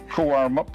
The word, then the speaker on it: Cowaramup: I was going to ask you, as an ignorant Eastern state person, exactly how to pronounce it. Right, so. yeah, Cowaramup, the small O in the logo.